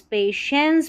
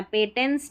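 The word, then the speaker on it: patience: पे पी ए पे टी आई को श पढ़ना है और इ एन सी को एंस पेशेंस पढ़ना है पेटेंस नहीं पढ़ेंगे पेशेंस केयर पेशेंस का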